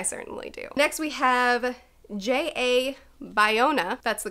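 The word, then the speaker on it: J. A. Bayona: means because I certainly do next we have Jay a Bayona that's the correct pronunciation whatever he says he is to direct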